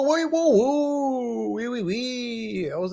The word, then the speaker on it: oui: Oui, whoa, whoa, whoa, whoa, oui, oui, oui. I was like, what? And then you say oui, right? And it's spelled O-U-I. How do you get oui out of O-U-I?